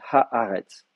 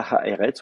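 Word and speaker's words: הָאָרֶץ: Donc, on dit ha-haretz. Voilà. On ne dit pas ha-eretz, on dit ha-haretz.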